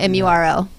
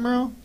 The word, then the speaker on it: Muro: I'm Muro, Don't do M-U-R-O. Don't do that. Mike, yes. say that again, Murrow?